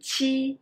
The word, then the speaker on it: qi: 鸡, qi, xi. Well, 鸡 is for jeep. Qi is for cheese.